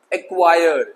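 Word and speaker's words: acquire: तो देखेंगे सबसे पहले एक्वायर, सी नहीं आ रहा है प्रोनाउंसिएशन में, एक्वायर।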